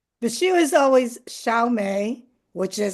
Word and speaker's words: Mei: I think her name is Mei, and not May.